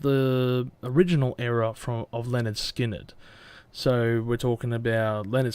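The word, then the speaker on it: Lynyrd Skynyrd: their first album onwards which was um pronounced Leonard Skynyrd now I'm not gonna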